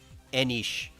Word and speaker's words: Enix: It's Enish, right? Because the X often makes like the sh sound in Asian.